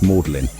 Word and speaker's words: Magdalene: Magdalene College, pronounced mlin, its beautiful closters, its deer park in the city center.